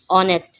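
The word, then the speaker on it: honest: पहले इस चीज को समझ लें के ऑनेस्ट ये जो ऑनेस्ट में एच जो है ये क्या है? ये साइलेंट है। ठीक है? एच जो है साइलेंट है।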